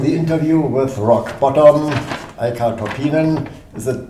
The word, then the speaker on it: Eicca Toppinen: On the interview with Rock Bottom, Eicca Toppinen, is it pronounced rightly?